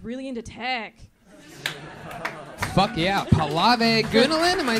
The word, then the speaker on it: Pallavi Gunalan: How do you pronounce your name? Pallavi Ganalan.